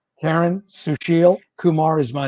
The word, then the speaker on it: Susheel Kumar: Kumar and say your name correctly if I said it wrong Karen Sushil Kumar is my name public information officer for the